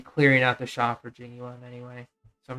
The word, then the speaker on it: Jing Yuan: Oh my gosh, the General Ching one. How do you pronounce his name? General Jing Yuan.